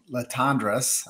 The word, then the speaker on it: Latendresse: But before we get into with Shelley Latendresse, I think I said that the pronunciation correctly. She's like, you can say it English or French, whatever's best.